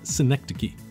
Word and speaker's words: synecdoche: given it a shot okay it's pronounced synecdoche it's when you use